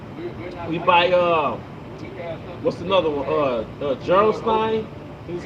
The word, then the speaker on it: Gerolstein: Gerolstein.